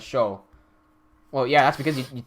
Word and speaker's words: Siu: Angelo goes, the Siu in Siomai for us is pronounced as show.